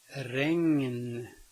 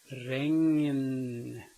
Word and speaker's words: regn: It can be spelled with only a G in front of an N, but the N is spoken separately. Regn, regn. Notice that I say the ng and then the n, regn.